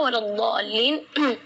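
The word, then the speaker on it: وَلَا الضَّالِّينَ: Di kalimat ini juga waladdallin yang perlu diperhatikan adalah madnya juga. Mad di situ kita harus panjang membacanya 6 harakat, karena di situ hukumnya mad lazim kalimi musaqqal, jadi membacanya waladh 6 harakat.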